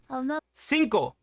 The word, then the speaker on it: cinco: Cinco. Números, like the number 5 is cinco. Cinco. And it's spelled C-I-N-C-O.